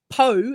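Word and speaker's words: Poua: a a pillar and so PO is how we're doing it so yeah it's almost like power but power is is how are we saying it and you know what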